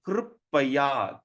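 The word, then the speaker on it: कृपया: So R there, krr. So kripaya, kripa. Okay, we can sound like a ru, kripa.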